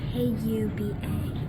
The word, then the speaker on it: Kuba: And then Kuba is K U B A. K U B A. It cannot be left out. It is pronounced Kuba, not Cuba, right?